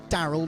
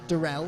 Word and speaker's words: Daryl: clarification from daryl that it is daryl not darrell i've um i've been told